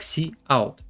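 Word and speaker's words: cout: Out вывод на консоль производится произносится как C Out является оператором фактически выводящим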